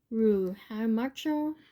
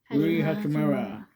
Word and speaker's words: Hachimura: Rui Hamacho. How do you pronounce it? Rui Hachimura.